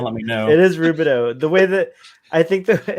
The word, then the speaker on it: Rubidoux: I'm going to say Rubidoux. If I'm wrong, someone let me know. It is Rubidoux.